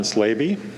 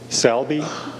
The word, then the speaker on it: Slaby: My name is Slaby, but it's mispronounced Salby, Slabby, and Slobby. And it's a good Czech name from the Czech Republic. And for those of you who know names from the Czech Republic, you know you're getting off mighty easily, but the name is easy to pronounce as Slaby, coming from a country